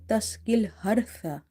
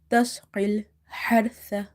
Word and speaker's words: تسقي الحرث: So in order to pronounce this ha, you have to make your mouth wide open and you have to exhale the air out. Tasqil hartha.